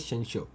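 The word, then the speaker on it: censure: सेंशो, आप इसको सेंसर भी पढ़ सकते हैं, इट्स बेसिकली प्रोनाउंस एज सेंशो।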